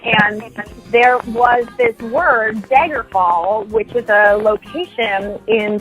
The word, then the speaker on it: Daggerfall: location in Tamriel, and I kept saying Daggerfall instead of Daggerfall, And I didn't hear the difference, but they kept saying that I was saying it wrong because I was saying the A's, like I'm from North Dakota, my A's and my O's.